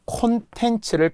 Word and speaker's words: 콘텐츠: 또는 콘텐츠를 컨텐츠라고 하는 분들 되게 많아요. 내용, 콘텐츠, 그렇죠?